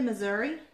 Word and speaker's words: Missouri: yeah I'm I'm from Missouri I've been the mazury mazury mazury mazury as my grandma used to put it Missouri cuz we had family down there and that's how she always pronounced it was yeah Missouri I